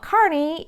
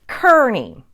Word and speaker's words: Kearny: a general carny from the mexican-american war but Carney is now the wrong pronunciation then there's also tyranny which is the way that I pronounce it and that's also wrong the correct way to pronounce it is Kearny simple explanation the locals have just mispronounced it